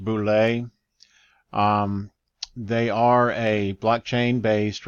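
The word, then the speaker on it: Boulé: of the website and this pronounced Boulais they are a blockchain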